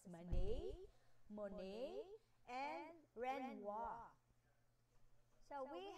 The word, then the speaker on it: Manet: This is a French base name or French name, that's why it pronounces like this.